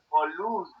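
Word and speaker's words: πολύς: Polus. Atención a la pronunciación de la Y, que sería el punto que debes trabajar. Polus, polus. Una U más cerradita en la boca. U, como si fuera una I.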